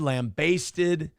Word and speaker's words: lambasted: Lambasted, lambasted. The way it's spelled, it should be lambasted. Because the basted part of it is like wasted.